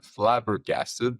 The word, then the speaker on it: flabbergasted: It's flabbergasted, because I tend to invert the G and the B. So I go flag, like the flag, and then versus the B.